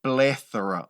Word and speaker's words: plethora: ouviu essa palavra aqui plethora olha a pronúncia pleth tem que pô a língua no meio dos dentes ali no th hein pleora que que é